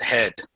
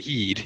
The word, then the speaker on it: Heed: And he's just constantly yelling at Heed, who I wonder, is his name actually Heed or is it Head?